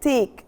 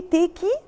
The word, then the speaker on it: take: have a look at take do i say taki do i pronounce the e at the end of the verb no this is called the silent e banter silent all right